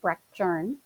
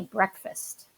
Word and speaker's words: Breckjern: My name at the time was Breckjern, pronounced Breckjern, but Mr. Gritzmacher called me breakfast.